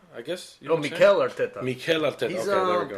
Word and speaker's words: Mikel Arteta: I don't know how to pronounce his name right. Michael Arteta, I guess. Mikel Arteta.